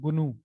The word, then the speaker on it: GNU: इसकी देखो full form जो है ये है जीएनयूज नॉट यूनिक्स, और इसको प्रोनाउंसिएट करते हैं गुनू, ठीक है?